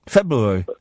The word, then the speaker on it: February: I pronounce the first of the two Rs. February.